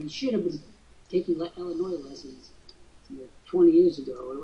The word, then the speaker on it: Illinois: and by the way it drives me crazy when you say Illinois Illinois it's Illinois and that's the way it is doesn't it bother when